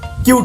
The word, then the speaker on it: cute: এবার যখন হয়ে যাবে ওটা লংয়ে, CUTE কিউট হয়ে যাবে।